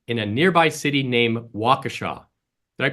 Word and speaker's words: Waukesha: That November, they got that answer from a solitary lightning storm in a nearby city named Waukesha. Did I pronounce that right?